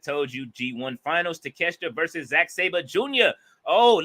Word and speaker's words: Takeshita: For calling him take a shit. Like we that's how his name is spelled. But everybody, they respect. We respect. Man, I don't give a shit. I'm gonna pronounce it the way I see it. Bolo. But it is Takeshita though.